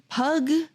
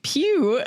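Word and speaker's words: Pugh: Then we got Florence Pug played Pug Pug. I don't know how you say it. Florence Pew. Pew. Okay.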